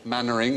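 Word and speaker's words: Mainwaring: that was Chumlee Corey Mannering as in kept remembering the bottom is beaver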